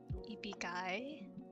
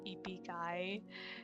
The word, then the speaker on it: ibigay: JJ, me when kids bullied me in school, ibigay. Yeah, okay, so in Tagalog, the I, it's pronounced I.